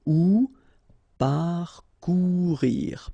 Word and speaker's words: parcourir: Parcourir. Okay, O and U together. Ou parcourir. Parcourir.